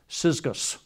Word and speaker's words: Syzygus: you'll see that it's an almost impossible to pronounce in English first name. S-Y-Z-G-U-S, Syzygus. Again, not a very common one in our culture, right? But the word Syzygus, which was a common name, literally means yoke fellow.